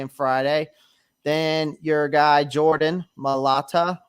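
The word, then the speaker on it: Jordan Mailata: Then your guy, Jordan Malata, right?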